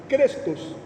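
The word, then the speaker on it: χρηστός: E o benigno, no grego, a pronúncia é muito similar, seria como Crestos.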